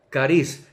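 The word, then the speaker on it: χάρις: se expresa jese y en el griego también se expresa se pronuncia cariz que viene siendo favor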